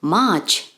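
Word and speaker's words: March: y kemudian yang ketiga Maret kita ucapkan dalam bahasa Inggris much nah jelas di sini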